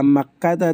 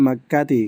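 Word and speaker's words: مكةَ: Kenapa dibaca makkata tidak makkati? Karena dia termasuk mamnu almamnu minasarfi yujarru bil fathati. Ini yujaru bil fathati. Dijarkan dengan fathah.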